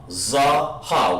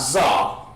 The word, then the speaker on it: zaha: sounds or dependent sounds not zoh i'm pronouncing it for you zaha okay adrian put independent